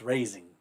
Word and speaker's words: raising: It's spelled raisin, but it's raising, but it's southern.